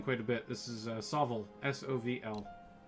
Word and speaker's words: SOVL: This is SOVL. S-O-V-L. Some people pronounce it Soul. Those people are lame.